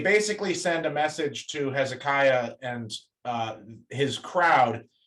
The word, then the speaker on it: Hezekiah: Charlotte, can I have you to read this part where, and I'll give you the pronunciation thing that I gave everybody else. It's Hezekiah.